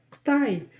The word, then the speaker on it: Қытай: Так вот, теперь вы будете знать, как это пишется и читается. Вот такие чудеса. Погнали! Қытайдан жеткізу. Как нам прочитать слово Қытай? Қытай.